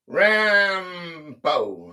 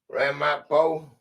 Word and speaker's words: Ramapo: Rampo. How do you say that? Ramapo.